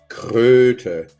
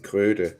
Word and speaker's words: Kröte: So you'd say Kröte because of the O's. If not, it'd be Krote. But Kröte is a frog. So, but it rhymes with throat.